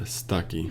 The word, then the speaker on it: Stuckey: Is that how you pronounce her last name? Stuckey? Stuckey? Allie Beth Stuckey.